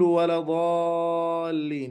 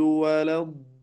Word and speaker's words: ولا الضالين: وبعد ذلك كلمة ولا الضالين، هذه الكلمة هنا الألف واللام فيها أنها شمسية، ولا الضاء، أنت ما نطقت اللام لذلك فهي مدغمة. وحرف الضاد مشددا فنعلم منه أنه حرفان، فلا نمر عليه كمرور الحرف الواحد، فلا أقول ولا ضالين ولا ضالين، هذا خطأ، وإنما أقول ولا الضالين.